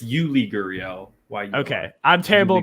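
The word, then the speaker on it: Yuli Gurriel: what's your else you're it's yuri guriel and jordan alvarez yeah that's i was thinking of jordan jordan alvarez but just basically i'm sorry it's you lee gurion okay i'm terrible pronouncing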